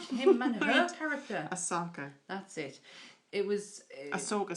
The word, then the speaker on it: Ahsoka: I want to say it's Akosha. Ahsoka Tano. That's it.